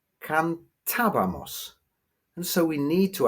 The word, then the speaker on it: cantábamos: Well, without an accent on it, we would have to say cantabamos, because we would have to stress the penultimate syllable. But the word is actually pronounced cantabamos, and so we need